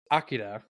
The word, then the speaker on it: Akira: should say anime film Akira or as I learned over the extra week we had to prep for this episode apparently it's actually pronounced Akida but to make things